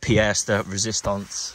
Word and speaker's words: pièce de résistance: And this is the pièce de résistance, that's how you say it.